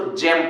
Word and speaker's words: gem: जैसे लो देखो, पहला लिखा होगा GEM ना, लिखा ना, इसको जेम पढ़ेंगे, गेम नहीं, जेम।